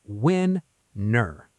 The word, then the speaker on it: winner: The sound is win-ner. Yes, the stress is on the first part, win.